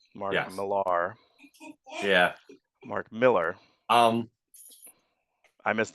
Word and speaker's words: Mark Millar: And you were there, and I missed Mark Miller. Speaking of mispronouncing, Mark Millar.